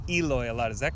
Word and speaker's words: Eloy: because I hear Americans say Eloy a lot.